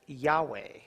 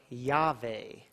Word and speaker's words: Yahweh: yo hey MA hey now some pronounce this as Yahweh or yah vay you see later we